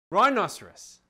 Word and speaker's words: rhinoceros: other children you see it's spelled r h i n not just r i n the h is silent and rudiger used to